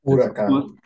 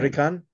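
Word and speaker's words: huracán: Huracan. Almost the same. Huracan.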